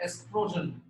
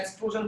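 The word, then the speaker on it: oestrogen: और दूसरा बेटा एस्ट्रोजन, स्पेलिंग ओ से शुरू होती है बेटा, एस्ट्रोजन। ओ जो है साइलेंट होता है, एस्ट्रोजन बोलते हैं इसको जनरली बेटा, ठीक है।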